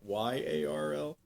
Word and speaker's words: Jarl: Yeah, I said I said the J so that people won't be like Y A R L. Yeah, but it is pronounced Yarl to be correct.